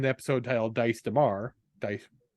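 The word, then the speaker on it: Daes: Dice, how it's pronounced.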